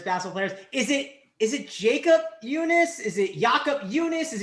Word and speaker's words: Junis: He's Junis, excuse me.